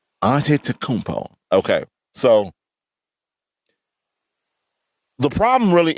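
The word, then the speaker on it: Antetokounmpo: name no i gotta say his last name auntie takumpo aunty takumpo okay so the problem really isn't giannis the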